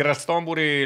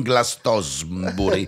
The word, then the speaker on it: Glastonbury: No, si pronuncia Glastonbury, non Glastosbury come ho sentito a volte, ma Glasto per farla breve.